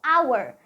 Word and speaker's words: hour: sound is our because the H is silent here and the sound is hour that's why we should